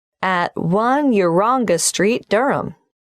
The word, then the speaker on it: Durham: of course I should know that but it's just one of those names that sounds quite different from the way you spell it it is confusing I've